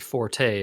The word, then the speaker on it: forte: I feel like it's an American colloquialism to say forte, and that if you say fort, people will be like, I think I know what you're trying to say, but what are we doing here?